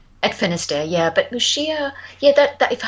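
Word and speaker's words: Muxía: I've got a question about Mushia. And if anyone doesn't know how that's spelled, that's m u x i a. It's the ggo the galian pronunciation of the x mushia.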